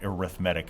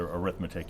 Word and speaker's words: arithmetic: and for whatever reason we call that arithmetic as opposed to arithmetic even though it's spelled exactly the same uh if there is